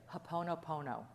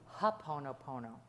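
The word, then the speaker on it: Hoʻoponopono: Ho'oponopono. Ho'oponopono. Wait till you see how it's spelled. Ho'oponopono and there are four things that that's that kind of stands for.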